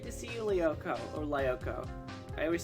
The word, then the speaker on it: Lyoko: it sound mean so it is leoko okay like code leopo okay i wasn't